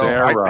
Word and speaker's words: Zara: So Zara. I It's like propose Sarah, but with a Z.